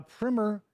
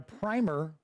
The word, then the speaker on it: primer: A primer is a school book, and a primer, rhyming with climber, is the first coat of something like the white stuff you roll onto drywall before you put your real paints.